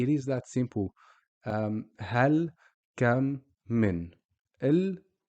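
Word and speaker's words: كم: We're not saying ma, mu, or mi. We're just saying kam.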